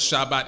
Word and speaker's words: Shabbat: in we acknowledge is the sabbath day or pronounced as shabbat in hebrew which is a day